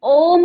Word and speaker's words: ओम: ओम का उच्चारण ओ, और अंत में आता है म।